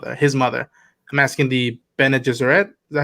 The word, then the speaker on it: Bene Gesserit: I'm asking the Bene Gesserit. Is that how you say it? There you go. Bene Gesserit.